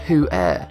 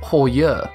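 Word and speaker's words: Heuer: That said, the majority of folks cannot pronounce the name correctly, pronouncing it tag who air largely because it is a Deutsch or German name, not an English one. See the issue here? People are trying to pronounce a Deutsch name like an English name, which is outrageous. The correct pronunciation is tag Hoyer.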